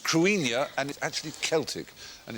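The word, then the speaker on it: Cruithne: a matter of fact Krishna is pronounced Karenia and it actually celtic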